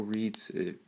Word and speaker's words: Reitz: But I'm really struggling with is I think Joe Reitz, that's how you say his name, is not a long-term solution at right tackle, right guard.